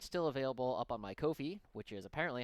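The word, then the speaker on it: Ko-fi: have this document still available up on my Kofi which is apparently how you're supposed to pronounce it uh as always this will probably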